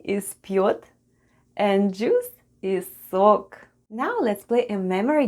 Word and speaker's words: сок: Let's have a look at the spelling of the word сок. The first sound is S, then goes O, and then we have K at the end. And altogether it's сок, сок, which is Russian for juice.